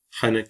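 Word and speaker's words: henek: Veya Kürtçe'de şaka anlamına gelen hanek kelimesi gibi. Bu kelime de gırtlaktan H olarak telaffuz edilir.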